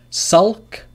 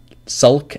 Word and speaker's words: sulk: Sulk, which is to be sad. Sulk, L is pronounced.